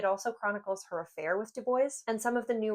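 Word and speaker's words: Du Bois: NAACP founded by Web Dubo. Before anybody corrects my pronunciation with Dubois, I had a lit professor who absolutely insisted that the man himself pronounced it Dubo.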